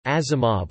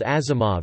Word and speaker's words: Asimov: spelled in Western letters, Asimov's father spelled it with an S, believing this letter to be pronounced like Z as in German, and so it became Asimov.